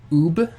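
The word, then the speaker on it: Uub: Okay, that's how you kind of pronounce it in Japanese. Okay, Ub.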